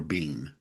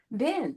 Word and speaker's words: Benn: So, I'm sure I'm pronouncing your last name correct. Is it Ben or Bean? Ben.